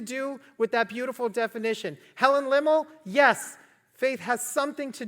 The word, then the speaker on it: Lemmel: The author of the song that we just sang, Helen, how do you pronounce her name? Helen Lemmel.